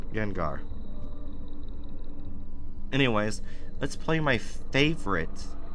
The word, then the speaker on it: Gengar: yeah yeah Gengar why did I say it name wrong Gengar Gengar anyways let's play my favorite Resident Evil 7